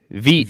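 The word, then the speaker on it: Vít: Veet. Vit. Yeah, he pronounces it Veet. Veet. Yeah. Makes sense. I didn't know. I thought it was Vit.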